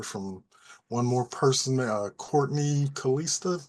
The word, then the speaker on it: Kalista: I think we'll hear from one more person, Courtney Kalista. Hope I'm pronouncing that correctly. Did you have it? Close enough. It's Callista.